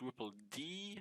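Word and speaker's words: rippled: ripple social ripples so it's right it's actually pronounced ripple d so d e uh so that's what i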